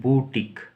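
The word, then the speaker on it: boutique: इसको बोलते हैं बूटिक, BOU यानी बूटिक, बूटिक।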